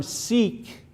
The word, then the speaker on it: Sikh: religion okay it was the term seek by the way that's how you pronounce this sikhism the term seek simply